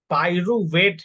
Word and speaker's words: pyruvate: PYRUVATE, पायरुवेट है इसका सही प्रोनाउंसिएशन, पायरुवेट है, ठीक है।